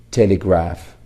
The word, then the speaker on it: telegraph: P is pronounced as P and H is pronounced as H. But when they come together, when we form a blending, so they get a third sound, F sound.